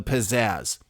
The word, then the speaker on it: pizzazz: the two pairs of Z's can be held for as short or as long as the pizzazz speaker wishes the longer the Xia sounded out the more the pizzazz it is that simple not only that but the a and the second syllable can be said with the Wisconsin a the Philly the southern diphthong a ax or the British aw each way it said